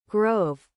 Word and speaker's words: grove: Is it grove or groove? I'm gonna quickly check that because I want to learn the word. It's pronounced grove. Grove. Yeah, okay, it's just grove. It is just grove.